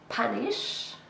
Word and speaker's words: punish: Punish. This is a verb, 2 syllables, and we stress the first one.